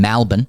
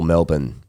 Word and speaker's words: Melbourne: I know you're copping in Melbourne and Perth is the same, but when do we rise up and call it out?